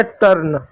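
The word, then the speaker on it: turn: कैसे पढ़ेंगे, जैसे टी यू आर एन, टी का क्या लिखेंगे टॉ लिखेंगे, यू को ऑ लिखेंगे तो ऑ साइलेंट होगा, आर आया तो आधा आर लिखेंगे, क्योंकि जब दो कॉन्सोनेंट एक साथ होता है तो पहले वाले कॉन्सोनेंट को आधा लिखते हैं, तो आधा आर ऐसे लिखेंगे, एन का पूरा नौ लिख देंगे, तो हो गया टर्न।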